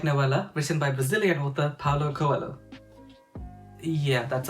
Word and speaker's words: Paulo Coelho: alchemist the fable-like novella written by Brazilian author Paulo Coelho yeah that's how we pronounce that I've read this book of big